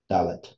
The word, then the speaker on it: Dalet: Adelet, or that's really that how you pronounce the fourth letter of the Hebrew alphabet because it's just a door, Dalet.